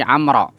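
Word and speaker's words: عمرو: aku mendengar Umara bukan Umar tapi amroh amroh kalau ada baunya dibaca Amr Tapi kalau nggak ada baunya dibaca Umar bedanya di situ kalau ada waunya itu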